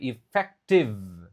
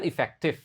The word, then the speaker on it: effective: Ingat pengucapan V, effective. Bukan efektif, effective.